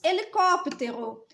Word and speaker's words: helicóptero: sílaba depois nós temos helicóptero primeira sílaba é o h ele não tem som segunda sílaba Lee terceira